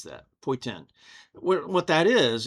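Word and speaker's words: poitín: It's spelled Poitin, but they pronounce it in the Gaelic way, and it's like, I can't even pronounce that. Poitin.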